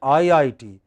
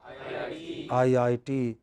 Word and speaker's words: IIT: are not studying at IIT you are studying at IIT what where are you studying IIT Obama is the president of USA in all abbreviations in all abbreviations it is the last component please write that takes